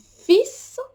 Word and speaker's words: fils: And fils is son.